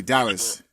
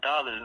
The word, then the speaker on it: Dallaz: i i said dallas you know but uh oh dallas yeah a lot of people some people have hit me with that like oh he's pronouncing dallas or dollars like nine dollars for sure for sure